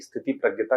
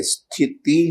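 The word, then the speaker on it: स्थितप्रज्ञ: स्थिति है या स्थित? स्थिति आप उच्चारण गलत क्यों कर रहे हैं? Sorry sir. स्थित प्रज्ञ है।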